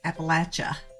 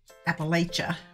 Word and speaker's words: Appalachia: of this one but the proper local pronunciation I'm told is Appalachia with a soft a not Appalachia with a hard a